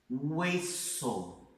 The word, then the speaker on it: hueso: A letra H no espanhol não tem som, em momento algum. Então vamos lá. Presta atenção nessas palavras que eu coloquei aqui para vocês, ó. Hueso. Hueso é como se não existisse, tá vendo?